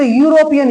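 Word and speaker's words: European: लेकिन प्रोनाउंसिएशन करोगे तो यूरोपियन, यो आया ना, तो क्या होना चाहिए?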